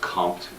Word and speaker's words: Comte: Very first person I want us to talk about is Augusta Compton. French word, French name, and pronounced Comte, like there's a P in there, even though there is not.